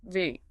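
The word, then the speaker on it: འབྲི: But again, honoring our German bridge here, we pronounce that "dree". Yes, "dree".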